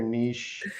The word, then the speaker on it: niche: ways okay we say we say nietzsche like the philosopher oh i say niche what's your niche in